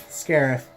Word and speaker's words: Scariff: on script is scared Scariff we all thought was grief but then in the movie they scare if so that's how you actually pronounce the name and that was an